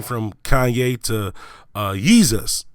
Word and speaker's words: Yeezus: name from Kanye to yeezus which rhymes with what Jesus right and then that